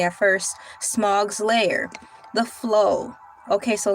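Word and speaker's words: Smaug: in the Misty Mountains or when faced with Sug's lair. I was saying it correctly at first. Smog's lair.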